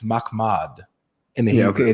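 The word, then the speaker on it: محمد: Transliteration: Mahmad. Mahmad. That's how to say it. It's not Muhammad. It doesn't have the correct vowels or anything like that for it to even give that sound. It's Mahmad.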